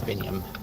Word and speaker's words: Biniam: Mine's Biniam. William? Biniam. Biniam. Oh, Rhymes with William.